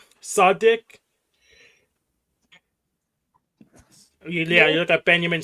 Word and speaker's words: Tsadik: So, it goes uh Benjamin, hope I pronounced this correctly. Sardic. Yeah, you got Benjamin Sardic.